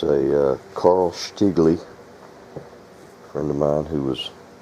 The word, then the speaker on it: Stiegele: am starting a new shotgun it's a Carl shigley friend of mine who was spent a lot of time in Germany said that's how you pronounce that Carl sley he was from Munich or as they pronounce